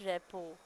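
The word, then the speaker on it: rapport: है हाउ to build रेपो आर ई पी ओ आर टी रेप लिखने में में रपट है लेकिन टी साइलेंट होता है तो हम उसको रेपो कहते हैं हाउ टू बिल्ड रेपो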